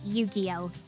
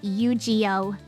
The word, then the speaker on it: Yu-Gi-Oh: But I always remember him like God bless the guy even if he cannot pronounce Yu-Gi-Oh. He pronounces it Yuiio and I say nothing.